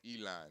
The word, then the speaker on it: Elon: yeah your boy Elon that is how you pronounce his name Elon I don't know I